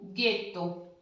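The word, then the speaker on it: ghetto: अब नेक्स्ट जी आ का ए गे, जी आ का ए डबल टी ओ, गेतो। ठीक है, गेतो, गेतो मीन्स गंदी मस्ती। तो ये हो गया गी ग्याचो, गे गेतो, के की क्योदो, की कियारो।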